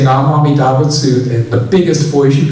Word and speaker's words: Namo Amida Butsu: Namanda, Butsu Namanda, Butsu Namanda, Butsu Namanda. So people ask, it should be Namo Amida Butsu.